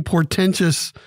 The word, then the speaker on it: portentous: We have many portentous topics to talk about today. Portentous is the word of the day. Three syllables.